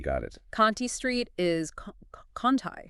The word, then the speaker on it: Conti Street: Conti Street is Conti. Conti, okay. And that word Lagniappe, Lagniappe, it's pronounced Lagniappe.